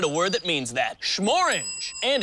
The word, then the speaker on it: Shmorange: Schmorange. And it rhymes with the color of our bottle.